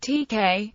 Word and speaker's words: TeX: Tex but often pronounced TK Tech in English is a type setting